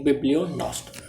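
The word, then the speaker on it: bibliognost: इसमें जी साइलेंट होता है तो इसकी प्रोनाउंसिएशन होगी बिब्लियोनॉस्ट.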